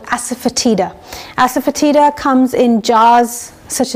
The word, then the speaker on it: asafoetida: One of them is this, which is called asafoetida. Asafoetida comes in jars such as this at local Indian stores, and you can also get it online. So it's spelled A-S-A-F-E-T-D-I-A. T-I-D-A, sorry, asafoetida, and it, in the Indian language it's called